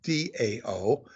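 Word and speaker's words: Tao: spelled t-a-o sometimes spelled d-a-o but it's pronounced Dao just like the Dow Jones but it's t-a-o and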